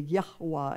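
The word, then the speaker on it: Yahweh: in English but in Hebrew that would be yahwa and most people won't say his name the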